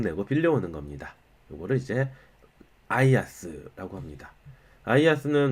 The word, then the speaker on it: IaaS: 요거 이제 소문자 L로 착각해가지고 이거 라스야? 이런 분들이 있는데 아니고요. IaaS라고 읽으시면 돼요.